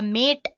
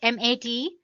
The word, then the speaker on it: MATE: boots you into the mate desktop environment let me pronounce it m80 you can call it whatever you want mate or mate desktop environment so as you can